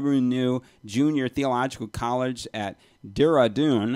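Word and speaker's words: Dehradun: he also teaches annually at the luther dev renew junior theological college at dira dune i believe that's pronounced deredun india where he has served as an adjunct professor since 1989.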